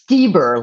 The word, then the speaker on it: Stieber: today's guest tell me how to pronounce her last name steber or Styer steber like Elanor steber the opera singer but